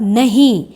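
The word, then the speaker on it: know: एन ओ नो मतलब नहीं दूसरा है के एन ओड नो जिसमें के का क साउंड साइलेंट होता है इसलिए हम इसे नो बोलते हैं के एन ओ डब्लू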